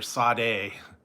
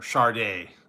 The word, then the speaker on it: Sade: The one singer, Sade, or Sade. It's spelled S-A-D-E. I don't know where they get the R out of it.